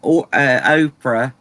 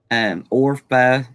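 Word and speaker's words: Orpah: Now I've been calling the one Oprah. Is I don't know how you say her name, but Orpha.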